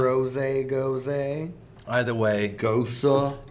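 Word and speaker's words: Gose: you pronounce goza? Goza, exactly like that. Goza. It's from Leipzig, Germany, and that's how it's pronounced.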